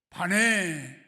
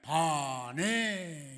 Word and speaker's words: 우바네: 그리고 반네. 이게 아니라 반해 이겁니다.